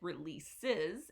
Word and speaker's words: release: this verb is release here the stress is on the last syllable so this word is this sound is not a read it's a row so it's release this is the schwa that sound in English release um so release